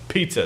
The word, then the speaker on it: piezo: neck pickup and a K&K underbridge, definitely Piezo, pizza. That's how you pronounce it, Frank.